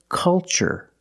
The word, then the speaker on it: culture: pattern so the pronunciation that's right it's ch the first word culture and the second word cultural also remember the first syllable is a short u like cup and up uh uh make a